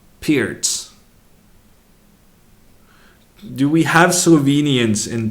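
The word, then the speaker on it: Pirc: sent me a YouTube video on how to pronounce what I previously called Pyrrhic then I called it peered because I had done some research and apparently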